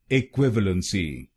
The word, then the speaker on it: equivalency: then it will become equivalency equivalency a qu allen si a qu allen si equivalency equivalency and in this word you have to put stress on the second syllable equivalency equivalency now you